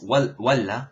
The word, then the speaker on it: ولا: It's walla. It means it's wa and then la, connected in one word, and it means or.